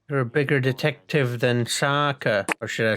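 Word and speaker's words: Sokka: hurt you you lost my name's Saka rhymes with AA and Waka Waka hey hey well maybe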